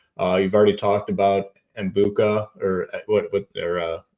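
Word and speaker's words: Egbuka: Uh you've already talked about Embuka or what what or how do you pronounce it? Eggbuka.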